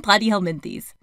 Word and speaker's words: Platyhelminthes: Phylum Platyhelminthes. I like to think plat rhymes with flat.